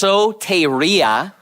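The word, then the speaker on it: σωτηρία: And in English, it's pronounced soteria, and it's a noun.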